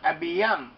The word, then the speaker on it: Abijam: We have the name Abiyam. Abiyam. Abijam is how it's spelt, but it's pronounced as Abiyam.